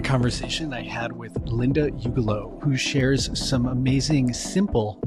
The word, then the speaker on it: Ugelow: My name is Linda Ugelow. People question, how do you say your last name? So before you get to do that, Shawn, Ugelow, I live in Boston.